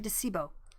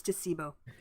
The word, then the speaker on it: Decebo: oh i'm sorry um it's actually decebo i forgot to make that it's decebo um because i said that